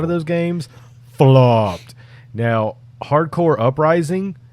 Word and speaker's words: Hard Corps: those games flopped now hardcore uprising it is pronounced core i have gotten jumped on before because i pronounced it corpse uh hardcore uprising is